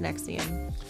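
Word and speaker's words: NXIVM: you heard of it it's like all Roman numerals but it's actually pronounced Nexium Nexium that sounds like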